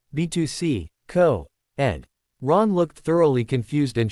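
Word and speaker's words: Betws-y-Coed: "It's B2C, Co-Ed."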